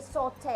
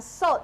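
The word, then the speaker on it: sauté: Bukan salt, ya? Saute, okay? Yes.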